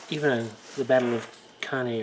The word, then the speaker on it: Cannae: on the Battle of Cannae, or Cannae, I think that's Cannae, I believe is how it's pronounced.